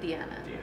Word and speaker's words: Diana: It's spelled Diana, but she's Colombian and it's pronounced Deanna.